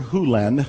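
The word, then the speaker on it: Hew Len: Hu Len, I've shortened it from E to Dr. Len, but it's actually Dr. Hu Len, if you want to say his name correctly.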